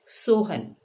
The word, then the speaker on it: सोहनः: जैसे अगर हम शब्द कहें सोहन, तो हमने उच्चारण इसका किया, लेकिन अगर इसके आगे हमने विसर्ग लगा दिया क्योंकि पुल्लिंग शब्द है, तो हम उसका उच्चारण करेंगे सोहनः।